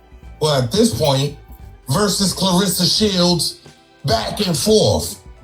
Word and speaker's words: Claressa: And he got the name wrong. It's Clarissa, baby. Not Clarissa.